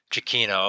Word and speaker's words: Giacchino: Giacchino, okay.